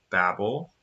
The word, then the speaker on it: Babel: Babel, that's how you pronounce it, from 1101.